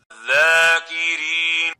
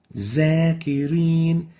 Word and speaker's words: ذاكرين: They pronounce the dha as if it is a za. So they'll say وَالزَّاكِرِينَ. وَالزَّاكِرِينَ is wrong. And the right way of pronouncing it is like this. ذاكرين ذاكرين, not zakirin.